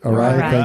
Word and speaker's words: Arai: Arai.